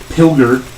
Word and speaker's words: Pilger: And also Patrick Pilger. It's the hard G. Hard G.